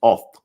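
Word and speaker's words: אות: However, when we look at oath here, the aleph we know is silent. So the wav has a holam over it and a tav. So it's oath.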